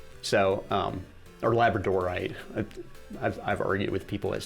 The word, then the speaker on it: labradorite: So, or labradorite. I've argued with people as to how it's supposed to be pronounced. It's probably labradorite because it's named after the island of Labrador off the coast of Canada.